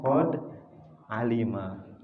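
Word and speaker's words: قد علم: Berarti tidak akan didahului oleh qad karena qad ini tanda fi'il. Berarti kita tahu ini dibacanya qad alima.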